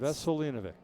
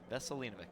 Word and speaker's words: Vesselinovic: So, you know, it's Vesselinovic. Vaselinovik. Yep. You know, when a guy